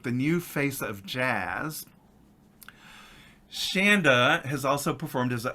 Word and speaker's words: Chanda: it's my dear friend Shanda like Panda I remember when I first met you and I pronounced your name incorrectly you said no it's Shanda like Panda and I was like